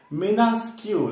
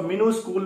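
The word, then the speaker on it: minuscule: मिनास्क्यूल, वैसे इसका सही प्रोनाउंसिएशन है मिनास्क्यूल, मिनास्क्यूल। मिन्यूस्क्यूल दिख रहा होगा ये, मैन्यू, कई लोग इसको मिनूस्कूल भी पढ़ते हैं, बट the right pronunciation is,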